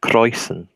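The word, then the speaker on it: Kräusen: world of German brewing its browsing Roberts actually pronounced croizon because I thought they they allowed birthday the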